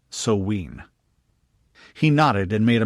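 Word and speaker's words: Samhain: She pronounced it Soween.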